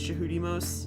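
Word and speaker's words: Djehutymose: you can see technically the word Tutmos is actually spelled with a DJ. It's jahudimos is literally how you say it. Um because the beginning of their name is the god for is the god Thoth. Um which in Egyptian is jihi. So it's literally jihi most.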